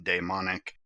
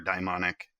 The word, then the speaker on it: daimonic: what I call the daimonic realms. Other people may use the pronunciation daemonic. I prefer daimonic.